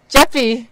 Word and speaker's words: Geppi: and mainly our guest, Sam Geppi. It's a soft G.